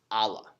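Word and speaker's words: الله: single deity or God which in Arabic is pronounced Allah that's gonna be important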